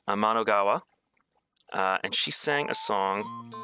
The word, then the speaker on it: Amanogawa: When I go to say her last name, I think of Anamanaguchi, which is a band. But Amanogawa, and she sang a